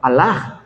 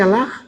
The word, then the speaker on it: Allah: ¿Cómo dice el musulmán? Alah. No dice Alaj.